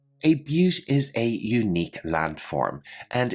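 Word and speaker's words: butte: our next term is pronounced a little bit differently than you might imagine but repeat after me but a but is a unique landform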